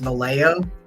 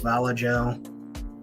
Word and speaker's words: Vallejo: Pronounced Vallejo. It's pronounced Vallejo.